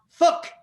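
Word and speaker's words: Phúc: And so then I decided to make the Vietnamese proverb, P-H-U-C is pronounced fuck.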